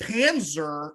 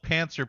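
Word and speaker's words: pantser: that but I thought I thought Panzer like a German tank got it now I'm looking it up so it is spelled pancer p a n TS e r yeah and people ask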